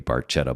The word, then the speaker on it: Barchetta: So we are doing red barquetta. Barquetta is the Italian pronunciation from what we understand. Although there may be some different pronunciation from Getty Lee in this one. Might be Betta, but we'll be soon to find out about that.